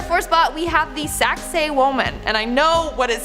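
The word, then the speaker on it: Sacsayhuamán: yet in our fourth spot we have the saxay woman and I know what it sounds like but that's how you pronounce it so just I know I know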